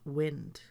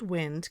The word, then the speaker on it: wind: cause something to turn I would pronounce this word as wind I will wind up the spinning toy I would now like